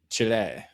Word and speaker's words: Chile: Chile.